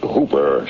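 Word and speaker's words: Houber: Uh, the name's Hooper, spelled H O U B E R, but pronounced to rhyme with Cooper.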